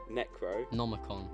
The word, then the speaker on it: Necronomicon: pretty much so the net I kind of pronounce right repeat after me necro necro Nomicon Nomicon Necronomicon there you go there we go